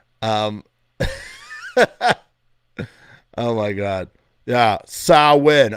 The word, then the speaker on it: Samhain: oh my god yeah saw win okay that's how you pronounce samhain i'm sorry if any